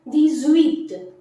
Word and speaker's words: dix-huit: And why we are pronouncing it as dix-huit, as the number dix is ending with a consonant X and the number 8 is beginning with a vowel H, and there is a rule, we have to link the vowel and the consonant.